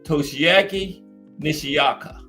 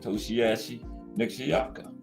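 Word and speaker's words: Toshiaki Nishioka: Syllableize it out. Toshiaki Nishiyaka.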